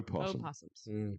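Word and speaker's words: opossum: They have the o in front. O possums, but they're they're pronounced possum.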